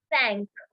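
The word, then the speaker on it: cinq: uh repeat for a second yes it is pronounced as sank sank okay sank so sank can be s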